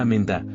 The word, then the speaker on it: Amanda: En inglés, en cambio, se escucha Amenda con una ligera modificación vocálica que le da un toque diferente, pero igualmente melodioso.